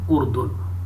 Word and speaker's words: اردن: اردن اس کا تلفظ ہے.